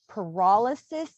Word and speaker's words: pyrolysis: So The only other question I have before we go, is it actually pronounced pyrolysis? paralysis. Pyrolysis? Yes, Pyrolysis.